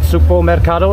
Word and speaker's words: Sugbo Mercado: Yes, vlogging the nice, how do you pronounce it? Sugbo Mercado, is that correct? Yeah, that's correct.